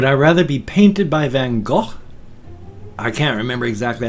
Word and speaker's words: Van Gogh: rather be painted by Van Gogh I can't remember exactly how to pronounce his name it's not pronounced than the American eyes go over stand just more like hawk or something like that so would I rather